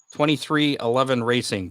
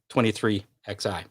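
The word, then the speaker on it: 23XI Racing: of that team is 23 11 racing but it looks like 23 and then roman numeral xi for 11.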